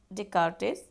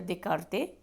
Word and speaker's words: Descartes: So here the notable scholar में सबसे पहले हम बात करेंगे रेन डेस्कार्टेस और डेकार्टे. We pronounce both. So the Rene Descartes or Descartes, born in 1596 and